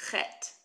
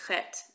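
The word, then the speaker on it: חית: But the ch is not pronounced like ch, it's pronounced ch. Like Bach, when you try to say the composer's name Bach, it's a similar sound.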